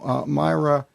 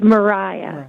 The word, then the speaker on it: Mariah: have with us now Myra did I pronounce that right Myra it's Mariah oh Mar I'm sorry